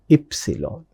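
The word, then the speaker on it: Ypsilon: In English we call it as Y. In German we pronounce it as epsilon.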